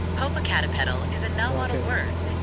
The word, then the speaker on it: Popocatépetl: Searching for how to pronounce Popocatépetl. Popocatépetl is a Nahuatl word that means smoky mountain. It is pronounced as Popocatépetl in Spanish and Popocatépetl in Nahuatl.